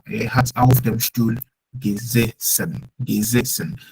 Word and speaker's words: gesessen: I said gesessen because the first S stands alone, but the second S is double. So when it's double, it's pronounced at beta sound, which is a sharp S. Okay, but the first one is alone, which is geze. S alone is set.